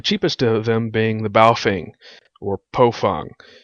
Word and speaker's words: Baofeng: The cheapest of them being the Baofeng, or Pofeng. Baofeng apparently is supposed to be pronounced as Pofung. The company's actually changed the name so that us Americans pronounce it the right way.